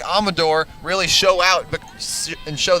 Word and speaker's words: Amador: podcast this week and she corrected us on her last name she says that the pronunciation guide is wrong and it's Amador fun fact Maggie Hudson